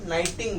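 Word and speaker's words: knitting: क्या बोलते हैं नाइटिंग यहां पे के लेटर साइलेंट है तो के नहीं बोलना है नाइटिंग बोलना है ठीक है 19 का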